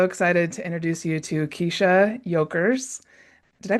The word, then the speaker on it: Kiesha Yokers: And today I'm so excited to introduce you to Kiesha Yokers. Did I pronounce that right?